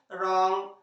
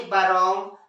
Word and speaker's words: wrong: था इस हिसाब से, बरॉन्ग, बराइट, बरिस्ट। तो कब साइलेंट दिख रहा है आपको, यस, जब भी आर के पहले डब्ल्यू आता है तो डब्ल्यू को का प्रोनाउंसिएशन नहीं किया जाता है, आर से उसका प्रोनाउंसिएशन होता है ना।